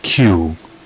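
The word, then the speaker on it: Kew: encounter when you're there okay so it's pronounced q so we're going to go over there to the queue garden and take care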